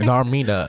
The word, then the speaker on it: Narmina: I'm like, why are you saying it like that? Narmina. Because, like, it's 3 syllables.